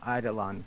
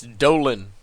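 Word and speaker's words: Eidolon: well yeah either way no it's Dolan like you know Dolan duck get your together lies it's not Lyn it's lawn there's l n not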